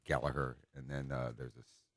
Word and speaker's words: Gallagher: named Gallagher too with I learned how Gallagher was spelled and pronounced by you know looking up Rory Gallagher on YouTube I saw him you know introduced in uh in Ireland and they pronounced it Gallaher and then uh there's